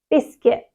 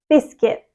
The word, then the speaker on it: biscuit: the correct pronunciation is biscuit biscuit so the stress is on the first syllable we emphasize the K the C Sound quite a lot and the t is